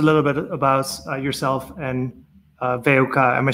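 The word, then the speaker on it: WUK: Astrid, can you tell us a little bit about yourself and Veuka? Am I saying that correctly? Yeah, kind of. It's actually, we're just pronouncing it VUK, so all in one.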